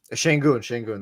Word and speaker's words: Şengün: Is that how you pronounce his last name? Alperen Şengün. Şengün.